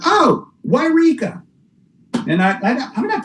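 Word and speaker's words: Yreka: It's actually pronounced Wairika. No, there's two of them, isn't there? Well, Eureka is over on the coast, and that's Wairika.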